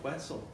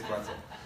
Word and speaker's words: Quetzal: Well, after I called him Quetzal a few times, I'm like, wait, I don't want this guy to think I'm like, rhyming with pretzel or anything. So I asked him and he said it's Quetzal.